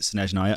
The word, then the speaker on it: Snezhnaya: I have to do this every time I hear it pronounced, because the only reason I pronounce it Snezhnaya and properly now is because I've seen that